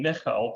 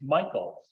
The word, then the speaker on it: Michel: But after that, he came over to the US and he changed the pronunciation of our last name from the German sound name Michel to Americanized Michael.